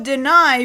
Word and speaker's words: Denai: no probably not although deny because you decided to make a bunch of jokes about her name d-e-n-a-i pronounced as such deny deny yeah sure I'll